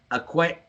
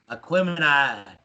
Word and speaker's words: Aquemini: But like I said, Aquarium. How you say it, Chris? Aquemini.